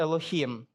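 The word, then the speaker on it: אלוהים: створив небо та землю в оригіналі на євриті слово Бог читається як елохім елохім це слово є в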